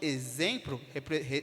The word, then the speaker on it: exemplo: percebes e quanto que exemplo exemplo os aqueles som de z luxo som de X